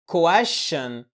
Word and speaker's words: question: فبقى عندي اتنين شين هل هتنطق كل واحده لوحدها كواش لا طبعا بتنطق شين واحده بس مشدده يعني بتقول كواشن بدون اي فواصل الفيديو ده اجابه